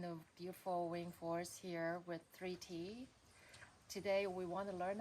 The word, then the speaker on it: 3T: I write it as a 3 and a T because that's how it's pronounced and spelled, like the word 30 with the I and the R the other way around.